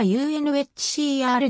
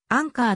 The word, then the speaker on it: UNHCR: unhcr が使われる略称の正式な読み方はそのままアルファベット読みした unhcr であるが助けられたは冬か難民だから自然にアンカーと呼ぶ呼び方が発生したこれは正しい読み方を知らなかったために発生した誤読が始まりであったが助けられた